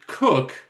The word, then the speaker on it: Coke: However, we then move to the British judges and Cook who spel it's spelled Coke.